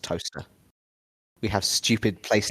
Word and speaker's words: Towcester: For those not in the know, it's spelt Towcester, but it is pronounced Toaster.